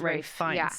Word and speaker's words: Ralph: I'm actually happy that Ray fins pronounce it Ray and I think he